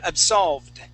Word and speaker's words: absolved: it okay very close yes it is a D sound okay but we we aren't going to pronounce that ID okay we say absolved absolved good one more